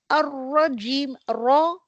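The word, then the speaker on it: الرجيم: the occurs अरजीम raw full heavy letter है यह heavily you have to pronounce the letter raw अरजीम the occurs धुतकारा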